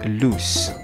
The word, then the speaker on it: loose: Loose with two O's is an adjective that means not tight, maluwag. Example sentence, one of the screws is loose. And we pronounce it as loose.